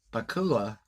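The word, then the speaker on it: Pakula: the director Allen Poe Bakula PA kul a I believe that's how you pronounce his last name the director uses special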